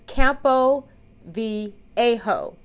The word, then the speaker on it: Campo Viejo: matching i did it intentionally but this is campo v a-ho listen i had to make sure that i did the google pronunciation so i wouldn't jack it up and